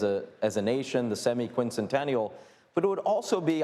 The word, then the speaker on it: semiquincentennial: said it there uh semiquincentennial that's how you pronounce it I I have spent